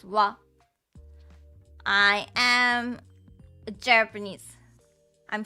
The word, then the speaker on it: は: So when you wanna type this hiragana, you always type as H and A. But it is pronounced as ha and sometimes wa. When it is used as a particle, it is pronounced as wa.